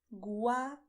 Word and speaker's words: guacamole: The way I pronounced is the way any native Spanish speaker would pronounce. So pay attention. Guacamole. As you see, guacamole. You will not say guacamole or something like this. You say guacamole.